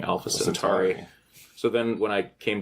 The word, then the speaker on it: Alpha Centauri: Well, we also have the Kirk misspelling in, or mispronunciation in Tomorrow is Yesterday, where he says Alpha Century, and he's supposed to be saying Alpha Centauri.